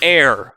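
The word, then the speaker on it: Aer: She has the power of air, spelled with an E, like A-E-R, which allows her to float when she has magic power, which is that green stuff.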